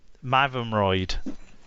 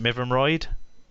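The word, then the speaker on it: Mytholmroyd: They're from Mavumroyd. How do you pronounce it? Mivumroyd, which is another town on a canal actually. That's on the Rochdale Canal. I say Mavumroyd, yeah.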